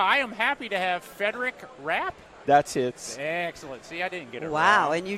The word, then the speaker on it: Frederic Rapp: having me yeah I am happy to have federic rap that's it Wow and you just said you were gonna let him pronounce myself I'm gonna make it handle this